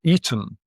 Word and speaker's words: Aten: but it's spelled with a regly. And the reglyph as we saw before is better pronounced as an e rather than a. So the god of Akenatan is the eaton or the eden.